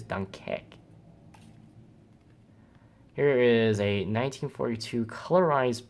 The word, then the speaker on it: Dunkerque: I don't know how to pronounce it, but I know how to pronounce the second one. Is in English is Dunkirk, and in French is Dunkerque.